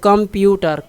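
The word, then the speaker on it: computer: तो कंप्यूटर, प्यू पर ज़्यादा जोर देते हैं, स्ट्रेस जोर देते हैं, तो ये इसमें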